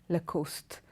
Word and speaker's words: Lacoste: the second one is la cos de Lacoste Lacoste it's also a French word again this is a very very popular brand of men's clothing its Lacoste now there's this one